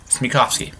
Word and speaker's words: Smekofske: actually embarrassing it's it's it's pronounced in 3 syllables it's me coughs me coughs key ok yeah I don't I make sure I don't make sure it doesn't sound funny mr.